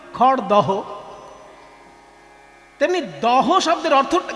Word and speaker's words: খড়দহ: তেমনি খড়দা, আমরা খড়দা বলি কিন্তু লিখতে হয় কি? খড়দহ।